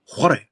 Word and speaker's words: whare: Haramai ki tōku whare. Whare? Ai. Do they spell it that way? No. So it's still with WH, but it's pronounced like when, where, why.